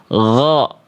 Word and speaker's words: غ: Jadi enggak dibaca, sekali lagi, ghasiqin, ghasiqin, tapi gha. Ghasiqin.